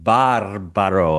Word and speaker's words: Barbaro: Chris, I thought you were going to pronounce my last name Barbaro, as a true Italian.